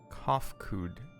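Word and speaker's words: Cahciua: As for nomenclature, to address my individual person, I believe it would be pronounced Kofkud. Yes, Kofkud of the Ia.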